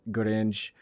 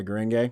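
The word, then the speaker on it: 紅蓮華: I thought it was like Guren at first. Gurenge, it's a Japanese word. But there's like a gay on it. I'm like, what's Gurenge?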